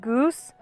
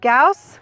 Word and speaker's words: Gauss: gause is pronounced fred goose or fred gauze someone once even called him fred gass fred used to tell his studio students that gauss rhymes with mouse one of his students